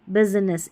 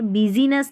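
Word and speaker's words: business: जैसे ये स्पेलिंग है बिजनेस। यहाँ पर बिजीनेस नहीं बोलेंगे, जो आई है ना ये साइलेंट है, बिजनेस बोलेंगे। आई यहाँ पर पढ़ा नहीं जा रहा है।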